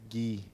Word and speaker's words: Guy: Is it Gee almost like pronouncing it Gee is at least like it's not just the word Guy. You're You're just trying to hide that it's Guy if you're pronouncing it Gee.